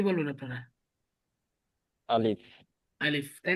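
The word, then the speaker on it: ألف: আসে তাহলে দেখেন এখানে এই আলিফটা উচ্চারণে আমাদের দুইটা জিনিস মনে রাখতে হবে। কয়টা জিনিস? দুইটা। নাম্বার ওয়ান, আপনাকে দুইটা। এটা কুইকলি উচ্চারণ করতে হবে, অর্থাৎ তাড়াতাড়ি উচ্চারণ করতে হবে, তাড়াতাড়ি পড়তে হবে, ঠিক আছে, তাড়াতাড়ি।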